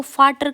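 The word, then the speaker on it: Vater: तो ये तो ऐसे देखे तो ये तो वाटर हुआ, तो नहीं, ये क्या है? एफ। इसको हम एफ की तरह प्रोनाउंस करते हैं जर्मन में, तो ये क्या हो जाता है?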